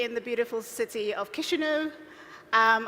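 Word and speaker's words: Chișinău: the beautiful city of kishu um I had to go online to know how to pronounce it because I was saying chishu and all of that I knew I was saying it wrong um I flew all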